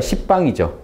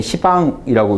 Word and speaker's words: 시방: 수평으로 팔방, 거기다 위아래 하니까 십방이죠. 이걸 지금 한문 우리 도금할 때는 시방이라고 읽는데요. 십방이죠, 십방. 시방, 시방세계로 계속 확장해 가요.